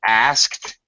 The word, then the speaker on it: asked: Okay, correct pronunciation is, of course, asked. It's going to sound like A-S-K-T is what it sounds like, asked.